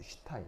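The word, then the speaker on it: Stein: 독일어에서 ST, T가 뒤에 T가 붙으면 S가 쉬 발음이 나요. 쉬 알죠? 요 발음. 그래서 얘 읽을 때는 어떻게 읽냐면 슈타인이에요. 슈타인 알겠죠?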